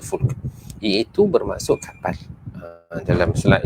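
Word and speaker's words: فُلْك: Arab ataupun dalam Quran ada perkataan fulk perkataan fulk ejaannya sama faamah tetapi dibaca fulk iaitu bermaksud kapal dalam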